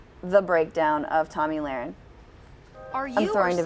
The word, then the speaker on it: Lahren: It's Lahren, like laryngitis.